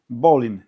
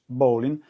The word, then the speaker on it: Bolin: Il faudrait donc le prononcer Bolin et non Bołlin.